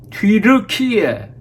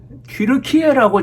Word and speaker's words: 튀르키예: 년 터키 터키 해왔는데 갑자기 뒤로 키에 뒤로 키에라고 지금 발음하고 표기를 합니다 뒤로 키에 왜 그렇게